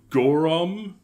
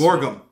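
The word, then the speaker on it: Gorgom: We get like little glimpses of Gorum, if I'm saying it right. Gorum. The Gorum, which is a political party in this. Gorgum. Gorgum, thank you.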